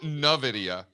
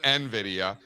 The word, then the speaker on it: Nvidia: He also He also calls it Novidea instead of Nvidia.